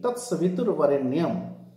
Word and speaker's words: Tat Savitur Varenyam: Here, for the sake of rhythm, the correct pronunciation should be Tat Savitur Varenyam.